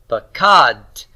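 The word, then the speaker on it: פָּקַד: And that is to say, the kof has the final vowel, doesn't it? And so therefore, this whole thing is the final syllable.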